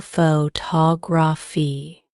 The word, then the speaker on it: photography: Take the word photography, for example. The stress is on the second syllable photography.